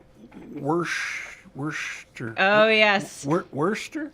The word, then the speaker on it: Worcester: relative now don't ask me to say wor Worster oh yes Worster Worster yeah people from Worcester Massachusetts do not take